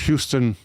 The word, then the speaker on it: Houston: After a disastrous fire in his former lab, he moved to more amenable quarters at 46 Houston Street in Manhattan. It's spelled Houston, but New Yorkers say Houston.